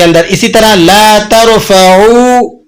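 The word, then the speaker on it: لا ترفعوا: तो ला तरफऊ अस्वातकुम, ला तरफऊ आइन से ना बुलंद करो। लेकिन अगर आप इसको हमजा से अदा करें, यूं अब प्रोनाउंस कर दें ला तरफऊ, तो अब इसके माना होंगे मत मुरम्मत करो। तो मानी में बहुत ज़्यादा चेंजिंग आ जाती है।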